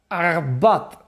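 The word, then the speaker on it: עבד: una palabra hebrea que se pronuncia abad así cultural la primera así como que salga de la garganta abad abad que significa abad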